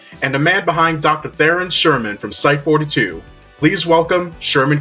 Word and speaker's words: Theron Sherman: Theron Sherman from Site-42. Please welcome Sherman Christensen to the show. Actually, it's pronounced Dr.